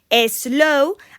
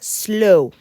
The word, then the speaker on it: slow: tenemos ese sonido y siempre acabamos diciendo slow, algo que no está bien, porque ya sabéis que no hay ninguna E. Eso sería slow. Por tanto, esa S va muy bien pegadita a la L y se considera una sílaba, slow.